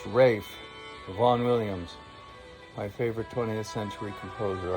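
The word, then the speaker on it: Ralph Vaughan Williams: teacher listening to vaughn williams ralph and it's pronounced rafe von williams my favorite 20th century composer i hope you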